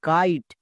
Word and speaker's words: kite: না, এখানে কিন্তু কাইট উচ্চারণ হয়নি। কাইট উচ্চারণ করার জন্য আমাকে শেষে সাইলেন্ট দিতে হবে। তাহলে সাইলেন্ট দিয়ে দাও। কেন সাইলেন্ট দিয়েছি? এগুলো যদি শিখতে চাও এগুলোর জন্য লাইভ ক্লাসে আসতে হবে। ওকে, এখানে আয়ের লং সাউন্ড করার জন্য সাইলেন্ট দেওয়া হয়েছে। চলো এবার উচ্চারণ করো, KITE, কাইট।